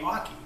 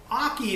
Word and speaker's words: oche: it basically says that you pronounce the word hockey without the H and that makes it